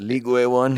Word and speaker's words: Ligue 1: Ligue 1, is that how you say it? Ligue 1?